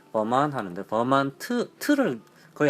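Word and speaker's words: Vermont: 이제 그게 아니라 버몬트 카레 버만 원래 이 발음을 버만 하는데 버만트를 거의 안 합니다.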